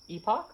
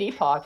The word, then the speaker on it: Epoch: Epoch? Okay. Oh, nice. Epoch, Ipoch, Upoch, Tupoch. How do you spell that? E-P-O-C-H. Oh, epic. Epoch. Epic. I'm probably saying it wrong. It's epic.